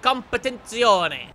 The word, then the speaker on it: competizione: The F40 Competizione. Okay, competizione. You have to say it like that. It sounds more authentic. That's how Marco would say it.